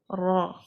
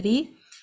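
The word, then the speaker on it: ر: So r, ra, ra, ra, ra. This is a heavy pronunciation of the letter ra. But when we say the ri, it's quite the opposite. No narrowness of the throat, no raising the back of the tongue towards the palate, no concaving in the middle of the tongue.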